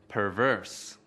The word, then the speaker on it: perverse: Từ perverse có hai âm tiết. Trọng âm của từ perverse ở âm tiết thứ hai.